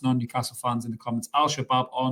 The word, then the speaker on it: Al-Shabab: And thank the Lord that it's one of the names I can pronounce quite easily without mumbling my way through it. It's Al-Shabab.